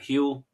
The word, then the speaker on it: Huel: Is that how you pronounce that? Huel?